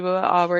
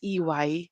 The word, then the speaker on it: EY: it's located even how the company name is pronounced okay like us sometimes we are able to interview people who call us who calls our company a okay so it's not a it's e y because it's stands for Ernst and Young okay